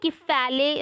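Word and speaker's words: kephalē: so it is a basically kefale uh pronounced in greek language and which means head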